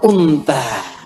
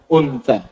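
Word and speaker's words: أنثى: zakarin zakar yang kedua unta Awas bacanya Yang benar bukan unta unta Una secara singkat kalau bukan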